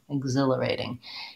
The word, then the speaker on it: exhilarating: In this word, it's a voice sound like g, g, and we have second syllable stress.